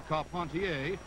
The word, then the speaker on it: Carpentier: Jack Dempsey advancing on George Carpentier or car pontier if you prefer the French pronunciation this was the first